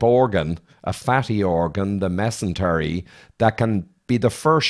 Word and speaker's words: mesentery: In this case, it is, Gabor, because I believe it is mesentery.